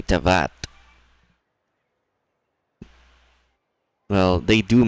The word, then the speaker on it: Teyvat: But he is very, very not directed properly because he's not pronouncing Teyvat the same way other voice actors are. He's saying Tevat. Because other characters say Tavat.